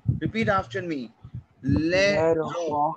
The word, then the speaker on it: l'aéroport: Now, l'aéroport. Repeat after me. L'aéroport. L'aéroport. T would not be pronounced. That would be silent.